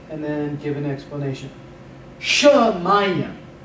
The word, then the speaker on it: shamayim: So I'll pronounce it and then give an explanation. Shamayim. Shamayim.